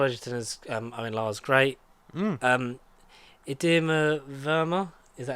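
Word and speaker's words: Indira Varma: Idema Verma, is that how you pronounce her name? Indra Varma.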